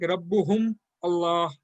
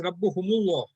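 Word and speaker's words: رَبُّهُمُ اللَّهُ: So it will be like Rabbuhum Allah. So it is that there is a break in the language. So that's why Arabic is a very free flowing language. That's why instead of the hum, it is made as Rabbuhumullah.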